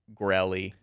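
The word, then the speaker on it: Goerli: pronounce this word, but Gorelli. I think it's Gorley. I think Gorley. from everything I've seen, I think it's Gorley. Gorley. It's not Italian. It actually is German, it looks like.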